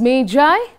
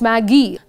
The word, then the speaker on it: Magi: The title of the lesson is The Gift of the Magi. Remember children, it's pronounced as Magi, not Maggie.